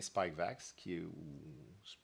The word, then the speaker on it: Spikevax: Alors, comme vous l'avez entendu déjà la semaine passée, Santé Canada a autorisé le vaccin Spikevax, c'est comme ça qu'on le prononce, là, de Moderna pour les enfants jeunes, les très jeunes enfants.